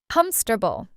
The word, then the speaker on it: comfortable: And we say it in only three parts, not four. Comfortable.